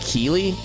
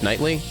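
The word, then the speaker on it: Keighley: I hear Jeff Wait, isn't it Jeff Keelley, not Jeff Knly? I thought Jeff Keelley was the name. I know I know that Jeff is spelled like the weirdly like the Geo FF stuff like that, but I I thought it was Keely both by the same guy.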